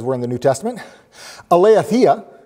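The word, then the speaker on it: aletheia: in the new testament eleathia is how it's pronounced and it's used 110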